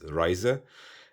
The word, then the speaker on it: RZE: for traveling here and i think they change this to rze which you can pronounce it as uh as ryzer and i like the